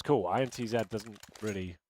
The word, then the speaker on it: INTZ: the CEO and apparently intz is not the correct name to pronounce it it's int Z we should be calling